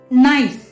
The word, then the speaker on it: knife: जैसे कि लफ्ज नाइफ, KNIFE, नाइफ यानी कि छुरी, इसमें K साइलेंट है।